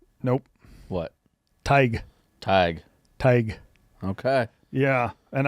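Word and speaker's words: Tadhg: Let's see if you can pronounce it. The name would be Tadgh. Tag? Nope. What? Tig.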